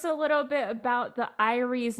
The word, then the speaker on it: Eyrie: You know, it's kind of like, well, how do you pronounce that? What is it? Eyrie.